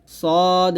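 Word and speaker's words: ص: আমরা এখান থেকে পড়বো সদ মিম পেশ সুম এখানে সদ এটা সদ আমরা অনেকেই আছি সদের উচ্চারণ সিনের মত করে ফেলি এটা করা যাবে না সদ মিম পেশ সুম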